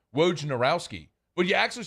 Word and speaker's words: Wojnarowski: janowski it's not w-a-r-g it's not war janowski that's not how you spell it it's w-o-j it's roge woj narowski it's it's phonetically spelled w o j n a r o w s guy whoa narowsky it's not hard it's actually a very